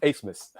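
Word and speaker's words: Abmas: spelled a b m a s but it's pronounced asmus so interesting go figure well I I might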